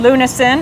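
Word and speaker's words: lunasin: get more information about relive about um lunin lunin I wanted to say it right and epigenetics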